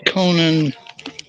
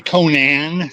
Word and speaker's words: Conan: Savage sword of Conan. Um, I am probably saying it wrong. Some people say Conan, some people say Conan. I say it both ways.